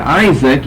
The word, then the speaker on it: Isaac: Isaac, it's Isaac, and it's not Isaac, but it's an ak, Isaac. And the accent is over here, Isaac, in the Greek, and in the English, Isaac. We shift the accent to the first syllable, we lengthen the I from a short to a long I, and we change the pronunciation of these A's here. From ak to ak, Isaac, or Isaac.